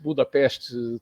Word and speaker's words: Budapest: Quem não conhece Budapeste, todo mundo pronuncia o nome junto, e é pronunciado junto, mas, na verdade, são 2 cidades.